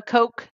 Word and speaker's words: Koch: Not like Coke, like cocaine. Not Coca-Cola. Okay. I was like, yeah, I know Coca-Cola. Okay, no. The Koch Network is something completely different and not associated with that. Okay. It's spelled K-O-C-H.